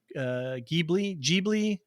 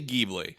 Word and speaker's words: Ghibli: that there was a documentary film about Studio Ghibli. What are we calling it? I say Ghibli. All right. You know what? I'm going to say Ghibli. I know in Japan they say Japan, Ghibli.